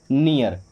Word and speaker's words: near: NEAR, अब देखिए यहाँ भी ई और ए है, उसके बाद में आर आया है, ओके। सो एन से बन जाएगा ना, ई ए से पहले ई की मात्रा आएगी और फिर आ आएगा, और आर से बन जाएगा रा, ये क्या हो गया, नियर, ओके।